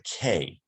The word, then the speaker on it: K: bravo this is a k and i always say k like construction which of course is spelled with the c but that's how you remember it 203k is a